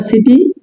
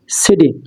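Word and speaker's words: city: হবে না সেটা হবে কি এখানে দেখেন এখানে সিটি আর এখানে কি একই আছে স আছে কিন্তু এখানে কিযে সিটি এর উচ্চারণ কিন্তু আছে এখানে এখানে আরেকটা বিষয় আছে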